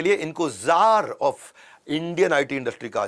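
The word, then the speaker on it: czar: Russia के अंदर उनको जार बोला जाता है वैसे सी जार होता है लेकिन सी साइलेंट होता है ये इंडियन आईटी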